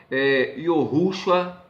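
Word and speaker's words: יהושע: José, Yosef, Josué, Yohushua.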